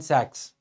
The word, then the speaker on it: Sachs: the term was coined by Goldman saches Goldman Sachs as we call it okay so SS I was pronouncing it for your convenience so Goldman Sachs